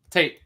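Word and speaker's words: Tait: you about is uh Eduardo Tate or tah I don't know how you say it Tate yep yep I I know you're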